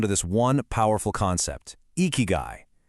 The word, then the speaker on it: ikigai: Well, a lot of people think it boils down to this one powerful concept, eeky guy. You say it like eeky guy and it basically translates to a reason for being.